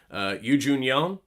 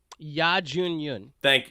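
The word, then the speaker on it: Youn Yuh-jung: Yoo Jun Young. Ya Jun Yun. Ya. So close. Yeah. Y-U-H. Ya. That's how they pronounce it. It's a different language. Yes.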